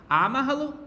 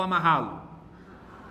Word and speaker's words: amarrá-lo: Qual é a sílaba tônica? A, ma ou ra? Amarra-lo, amarra-lo ou amarrá-lo? Amarrá-lo. A sílaba tônica é essa.